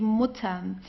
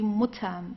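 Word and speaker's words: Mutter: So the rules here if you have a double consonant like here the mutam what you have to do here is to pronounce the vowel right before that very briefly. It's just the mutam. Okay. So it's not mut or so it's mut very very short.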